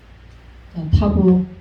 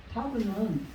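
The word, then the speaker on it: ת: 그래서 혀 끝을 윗니 끝으로 대고 떼면서 발음을 타 이렇게 하는 거예요.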